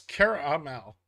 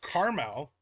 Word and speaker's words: caramel: Caramelo why no it's Cara Amal there's there's two A's there's Carmel and which is a place in Indiana NW is